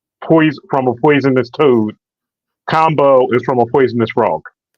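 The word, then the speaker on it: Kambo: Ivan um I've had it's spelled k MBO I'm pretty sure the pronunciation is combo uh if you guys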